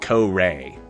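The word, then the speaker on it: Kore: They insist on pronouncing it Ko-Ray.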